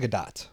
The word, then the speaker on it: Gadot: Yeah, I mean, is it Gal Gadot or Gal Gadot? I've heard her pronounce it Gadot.